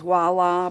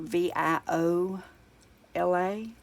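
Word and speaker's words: voilà: just a little joke the word is wallah but it's spelled vio la and on Warner Brothers Daffy Duck and all the old ones they would say viola instead of wah lah and and then I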